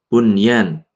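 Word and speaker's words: بنيان: Kemudian bunyan.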